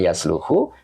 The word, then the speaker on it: يصلح: jadi itu Pak Jadi kenapa bacanya yasluhu karena di kamusnya itu shaha kemudian garis di sini ada donma nah itu kita lihat di